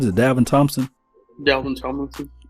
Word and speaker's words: Tomlinson: Dalvin Tomlinson. Tomlinson, like LaDainian Tomlinson.